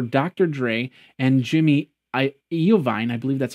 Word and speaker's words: Iovine: purchase was for Dr Dre and Jimmy I Iovine I believe that's how you pronounce his name to eventually promote the upcoming Apple eyewatch Jimmy Iovine you might have seen him on uh he